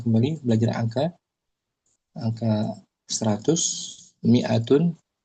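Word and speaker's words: مائة: Kemudian kita akan dapati nanti angka kembali belajar angka angka 100 miatun. Dia ada alifnya tapi enggak dibaca. Ini alifnya Om ditulis tapi tanpa dibaca. Miatun gitu bacanya bukan maatun.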